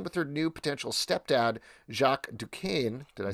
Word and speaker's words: Jacques Duquesne: in this thing with her new potential stepdad jacques duquesne did i say right this time that's that's